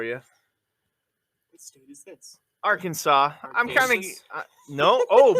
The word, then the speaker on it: Arkansas: to say it wrong with a hard s at the end of the state's name which would be your